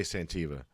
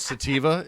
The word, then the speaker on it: Sativa: said santiva cross but you always say santiva okay I used to just think I took it personally like you're making fun of Santiva cross. I'm like I have a problem pronouncing I have pronouncing words so I just like make up my own and then I'd keep it forever. I'm just saying that people listening it's called Sativa.